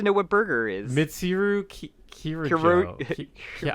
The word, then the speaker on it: Kirijo: Mitsuru Kirojo. Yeah, how do you say They say her name like Kirijo?